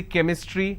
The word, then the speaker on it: chemistry: for example change but when i have the word chemistry ch becomes ker sound so i say chemistry i say chrome so